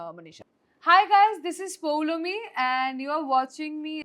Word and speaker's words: Poulomi: It's Poulomi. It's not Poulomi. It is Poulomi.